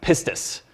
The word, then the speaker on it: pistis: It's pronounced pistis.